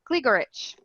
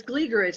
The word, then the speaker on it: Gligorich: and Jennifer Gligorich. I said it right, Jen? Said it right. Yes, I got it. See? Gligoric, but it's Gligorich. That's how you actually say it.